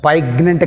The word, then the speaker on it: poignant: See here, poignant which is silent, g is silent. Not poignant. Poignant కాదు, poignant. Poignant, g. Here next 21, walk.